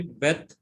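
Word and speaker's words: בית: Say after me, bet, mem, and pay. Bet, Wet, Mem, and Pay. mem, and pay. Although it is without dagesh, the letter you have to call it as bet.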